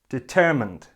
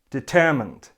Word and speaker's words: determined: similar to the verb it has 3 syllables and the stress is on the second syllable the only difference is